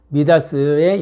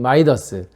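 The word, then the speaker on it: Midas: 어쨌든 이 신화에서 근거한 게 바로 미다스, 즉 미다스의 영어식 발음인 마이더스. 그래서 돈을 잘 만들고 성공을 만들어내고 이런 사람들을 마이더스의 손을 가졌다라고 표현하는데, 원래 이름은 미다스라는 거 기억해 주시고요.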